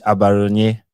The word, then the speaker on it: Abaronye: I know people have been pronouncing his surname wrongly, but it's Judge Abaronye.